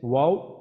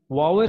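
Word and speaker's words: واو: মাকড়াজ আছে, তিনটা হরফ আছে, তিনটা হরফের মধ্যে তিনটা হরফের মধ্যে তিনটা হচ্ছে ওয়াও বা আর হচ্ছে মিম।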